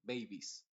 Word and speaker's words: babies: baby solamente decimos babies pero la e en este caso es muda completamente babies country lo mismo cambiamos